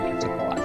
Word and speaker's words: Quetzalcoatl: actually be the word Quetzalcoatl or the name Quetzalcoatl. So Quetzalcoatl and Shiva, and that actually is how you pronounce the I actually majored in Mesoamerican archaeology.